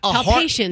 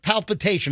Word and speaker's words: palpitation: Palpation. A heart palpitation. Is that's Yeah, what that's right. I said heart palpitation.